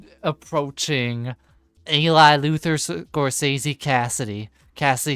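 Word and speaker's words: Kasity: Cassidy spelled K A S I T Y. Pronounced Cassidy like C A S S I D Y.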